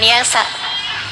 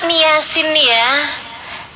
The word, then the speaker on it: Yasin: Kamu belajar harus dari guru, kata Allah, biar kamu bisa ngerti bacanya ini Yasin bukan Yasa.